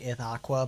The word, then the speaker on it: Ithaca: water weapons like um Ithaca I know it's pronounced like ith Aqua but I remember it as Ithaca because it reminds me